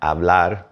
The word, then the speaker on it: hablar: right after aprender and hablar right next to it and since H is silent it may have sounded like they kind of melded and they probably did